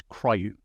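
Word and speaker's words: CRIU: So Linux has this thing called coordinated resume in user space, and it's some people try to pronounce it as CRYU.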